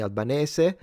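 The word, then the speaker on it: Albanese: while Australian Prime Minister Anthony Alban, I refuse to not pronounce it the Italian way, said that the attack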